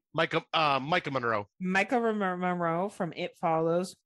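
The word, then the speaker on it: Maika Monroe: young lady that is in this is uh Michaela Micaiah Moreau from it follows did I say it right Mike uh Micah Monroe Micah Monroe from it follows mwah always loved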